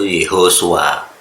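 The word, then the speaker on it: יהושע: Jadi cara baca sesuai Masoret itu Yehosua.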